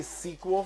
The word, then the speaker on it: SQL: It's pronounced SQL or SQL. I hear both. And I say both, honestly. I say sequel for short, so yeah, it sounds like the sequel to a movie.